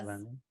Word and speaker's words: Luhrmann: then you went on to work with, I don't want to say his name wrong, Baz Baz Luhrmann. Luhrmann?